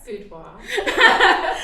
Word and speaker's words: boudoir: So Critsey of Couture Boudoir, pronounce it for us. Boudoir.